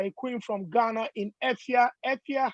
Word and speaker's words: Efya: I would say my name is Jane Awendo from Ghana, but my stage name is Efia. You spell it Efya.